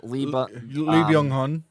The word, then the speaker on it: Lee Byung-hun: Maybe Ethan Hawke, I would say, is like third place, but like Plemons, how do you pronounce the guy's name? Lee Byung-hun.